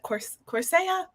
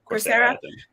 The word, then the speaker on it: Coursera: Redid the Coursera. That's how you pronounce it, right? Coursera.